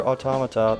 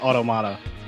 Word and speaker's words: Automata: the game but near automata made it into summer games done quick shout outs to have coordinated also it's pronounced auto Mata I made the mistake early it's not automata it's automatic onomatopoeia and